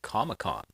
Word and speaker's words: Comic-Con: So, it's the big thing is San Diego ComicCon, but they pronounce it ComicCon like it's one word.